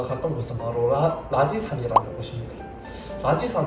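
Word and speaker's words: 拉脊山: 라지산 하면 중국에서 이 라지를 하면 좀 쓰레기라는 뜻을 가지고 있는 단어인데 그 한자는 아니고 발음이 똑같기 때문에 좀 오해하실 수도 있는데 이 라지산은 이제 해발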